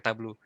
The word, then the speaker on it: Tableau: dipandang tabu juga kita Tablo ya jadi tega udah ngingetin bahwa bukan tablu ternyata bacanya ablu Oke